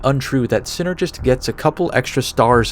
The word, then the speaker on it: Synnergist: and the title synergist synergist was meant to imply the result of many aspects coming together but the reason it was given an extra n was that you'd instinctively emphasize the syllable sin he says this is